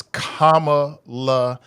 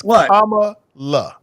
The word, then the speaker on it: Kamala: say her name is Kama LA are you doing that purposely Kevin it's K La not Kamala K LA but you know